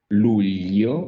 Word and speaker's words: luglio: marzo, marzo, aprile, aprile, maggio, maggio, giugno, giugno, Giugno, and then luglio. luglio, molto bene. This GL sound in Italian is very tricky, always very annoying for English speakers, but luglio, you said it right.